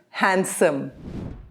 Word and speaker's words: handsome: There are some other words in English also where the D is silent. For example, handsome.